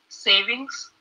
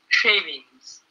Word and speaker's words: shavings: Now here pronunciation is important. I'm not talking about savings that you have in a bank. Here we have shavings.